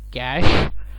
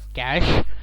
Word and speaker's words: cache: available ram rom and cash or cache there are two pronunciations for it some manufacturing companies name it is at call it as cash whereas with e-silent and the others call it as cash so it's really up